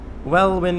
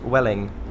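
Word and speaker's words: Welwyn: hi back to you wellwyn is actually pronounced welling oh well thank you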